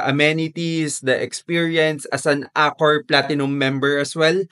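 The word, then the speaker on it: Accor: the amenities, the experience as an Acor Platinum member as well. Ayan, I pronounce it correct kasi I used to pronounce it as Acore. Sabi niyo Acore.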